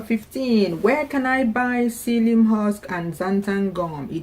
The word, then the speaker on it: psyllium: You can show them this thing when you go, because some of them will be trying to pronounce the psyllium with a P.